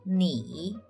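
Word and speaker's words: 你: The first character is pronounced as ni, and the second character pronounced as hao.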